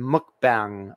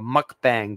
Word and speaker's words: mukbang: Because, yeah, that's why I call this like a cast iron mukbang or mukbang, but I think it's pronounced more like mukbang, in that I'm going